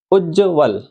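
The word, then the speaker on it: उज्ज्वल: इसका सही उच्चारण उज्जवल यह होगा।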